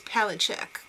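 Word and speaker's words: Palascak: Up next, Rebecca Budig and Fred Palachek, or Palasek. The real pronunciation, I'm sure, is Palachek. He's Slavish, you know.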